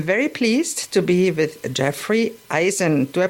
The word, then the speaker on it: Jeffrey Eisen: Today, I'm very pleased to be with Jeffrey Eisen. Do I pronounce it right?